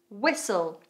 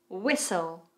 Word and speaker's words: Whistle: Whistle. Whistle.